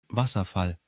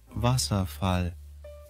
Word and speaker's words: Wasserfall: or intriguing so let's dive into today's word Vasa which means waterfall in German let's say it all together Vasa one more time Vasa